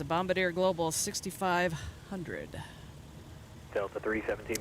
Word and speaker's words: Bombardier: It's pronounced Bombardier.